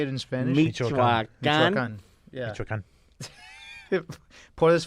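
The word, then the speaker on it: Michoacán: Michoacan.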